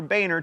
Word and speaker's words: Boehner: Bolstered by 80 or so new Tea Party congresspeople, the Republicans took control of the House in 2010, and John, it's pronounced Boehner, became the Speaker of the House.